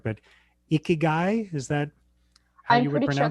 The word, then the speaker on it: ikigai: okay i i i when i looked it up it was icky guy like as in like it was the way to pronounce it but then who knows